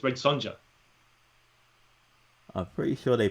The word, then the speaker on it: Red Sonja: Red Sonja.